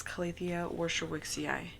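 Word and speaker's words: Calathea warscewiczii: separated it but yeah number one is this calithia worship wixie eye and I love pronouncing that the first time I pronounced it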